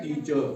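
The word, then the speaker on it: teacher: टी ई ए सी एच ई R last में है ना आर यहां ये साइलेंट रहेगा। इसको पढ़ा जाएगा टीचर।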